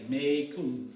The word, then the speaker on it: Macon: Macon. Even though it's M-A-C-O-N, but they pronounce it May, like that.